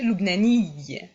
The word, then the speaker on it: لبناني: qui est le pays, on va adjoindre en fait un ya et une shedda. La shedda, je rappelle, c'est pour un doublement de consonnes. Donc on va prononcer Lubnani.